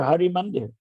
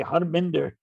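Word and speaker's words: Harmandir: the habit all over they call the temple in amritsar hari mandir you know but they can't say hari they say harmander instead of hari mandir so you know pronunciation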